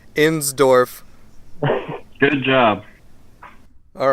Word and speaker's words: Insdorf: it's me Blake Pope's Alex endorse hey sorry about mispronouncing your name let me try that again Alex ends Dorf good job all right